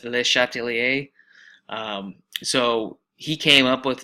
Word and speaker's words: Le Chatelier: and said, I don't even know how to pronounce this guy's names. So it's Le Chatelier.